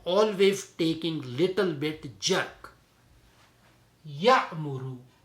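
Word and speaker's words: يأمر: Ya'muru. Ya'muru. But only thing is when we have to pronounce that Hamza, which is with skoon, so we have to give little bit jerk there.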